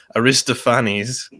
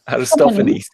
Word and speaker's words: Aristophanes: Zardos was saying in the chat, he's saying Aristophanes. in ancient Athens. Aristophanes, yes, yeah, of course, Aristophanes. yes. All right, excuse my pronunciation.